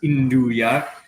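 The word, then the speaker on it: 'nduja: most famous um calabrian products which is called indua uh and yeah it's spelled n d uja a but it's pronounced indua and uh it's it's like it's a pork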